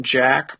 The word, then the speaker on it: JAQK: Yeah, it's called Club Jack, but it's spelled JAQK.